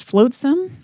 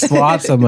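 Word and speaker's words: flotsam: I always thought it was floatsome. Like I just added an a in there and tonight I was thinking about the chapter and I was like oh it's floatsome. I said it wrong for like 20 years.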